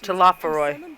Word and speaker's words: Telophoroi: Telophoroi. Okay, so next time I mispronounce that, that's how it's pronounced.